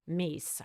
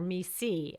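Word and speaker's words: MECE: How to approach a problem from a range of vantage points that have been researched to what Minto coins Mies, her pronunciation, or Misi, as Kinsey calls it.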